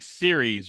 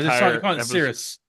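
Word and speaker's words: Ceres: Oh, and by the way, they're saying series wrong. They are. Sirrus.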